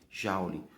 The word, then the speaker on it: joule: Você escreve assim, só porque no momento da pronúncia, no lugar do O, você pronuncia um A, tá? Então se escreve joule, mas a pronúncia correta é joule.